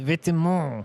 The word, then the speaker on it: Vêtements: I believe it's pronounced vêtements. Vitamins. Yeah. Vitamins is French for clothing, Yeah, I know that. I actually know that one, believe it or not. but it is pronounced Vêtements. I know, except do you think people pronounce like Margella?